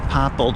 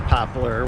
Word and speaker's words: poplar: cutting those trees down that's a popple tree there poplar the correct pronunciation is popular where i grew up we call it pophole i'm guessing we